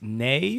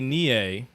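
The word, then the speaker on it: Nei: We used to say Nie, said but I think Nie, it's but pronounced it's Nay.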